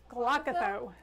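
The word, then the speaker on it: glaucothoe: is part of it they're saying they think it's pronounced glock though glockathoe well that's not too hard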